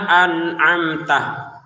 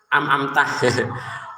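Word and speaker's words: أنعمت: Maka ini jangan dibaca am tapi ini an jelas ya. Ini am an am ini tantangannya ini. Kalau anak kecil itu kan amamtah ngambil enaknya ya kan.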